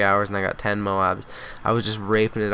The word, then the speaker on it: MOAB: up the Moab and Moab is how you pronounce it that's the military term I know Al press store if you guys haven't seen Al pressor's videos where he says Mo not Moab those are pretty funny but